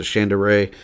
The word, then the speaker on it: Shandera: I've heard him call his name pronounce it Shandera.